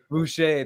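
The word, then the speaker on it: Boucher: I think Cruz uh Chris Bashar I can't forget I keep I can't say his name but he's gone Bucher thank you he's gone he's gone from there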